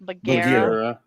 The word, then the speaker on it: Bagheera: Yeah, after rotation, it's gonna be Bagaria or Bagara. How do you say it, Tanya? Bagheera, Bagheera.